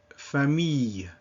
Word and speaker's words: famille: As a general rule, this is pronounced E. So the sound E, and then with a little Y sound at the end, E, as in famille, fille.